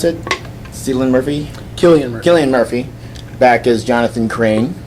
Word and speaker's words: Cillian: Especially loved, how do you pronounce it? Cillian Murphy? Cillian Murphy, back as Jonathan Crane, as judge, can't jury, get rid and of that guy.